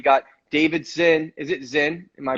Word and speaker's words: Czinn: Is it Czinn? Am I pronouncing it Yeah. right? The C's silent, All exactly.